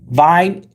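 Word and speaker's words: Wien: Sorry, Aaron is saying vine. Vine is Vienna in German.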